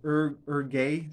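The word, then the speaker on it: Hergé: So Herge was Urge, sorry, I believe the author's name is pronounced Urge, something like that, Urge.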